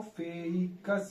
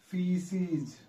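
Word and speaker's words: faeces: में आ रहा होगा इसको फकस बोले इसको क बोलने की बात आ रही होगी आपको क्या बोलना है य प स और ए को क्या है साइलेंट कर देना तो आप क्या आएगा फीज ठीक है फीज तो फीज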